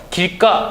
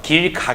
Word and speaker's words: 길가: 걸 확인할 수 있겠죠 길가 역시 마찬가지죠 길 가 가 아니라 길가 이렇게 발음 되죠 물론 이 기억이 된소리로